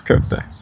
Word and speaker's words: köfte: But in Turkish, you spell it K-O with the dot, Yes. right? That's on the top. And that sound of O with the dots is very different from the English O.